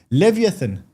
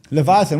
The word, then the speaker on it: Leviathan: what they call a how do you say pronounce this leviathan I know how to say it in Hebrew Leviathan what is that that's a big whale e Leviathan I know in Hebrew it's Leatan so long long story